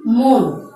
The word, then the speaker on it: মন: আমি যদি মন শব্দের শেষ ধ্বনি ন কে টেনে নিয়ে যেতে চাই, সরান্ত করতে চাই, তাহলে কিন্তু সেটি আমার পক্ষে সম্ভব নয়, কারো পক্ষেই সম্ভব নয়। সেজন্য মন শব্দটি হচ্ছে বদ্ধাক্ষর।